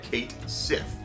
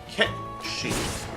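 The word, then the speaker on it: Cait Sith: the time and uh I had initially been pronouncing it the uh English way of saying that Kate Sith uh obviously Kate and I always thought it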